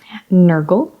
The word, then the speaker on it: Nergal: slash I'm enjoying me Nergal rhymes with circle c CH the is